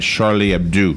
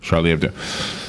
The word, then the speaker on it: Charlie Hebdo: newscast online and I heard them saying it Charlie Abdu is how they pronounce it all right Charlie Abdu so the way I understand Charlie Abdu it's